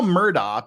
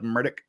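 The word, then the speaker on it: Murdaugh: particularly disapprove of so yeah it was all Murdoch because that's the way it's spelled for a year until it comes up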